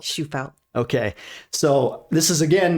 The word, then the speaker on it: Shufelt: today I give you shufelt is that pronounced properly yeah yeah which is the last name shufeld she fell okay so this is again not a fitness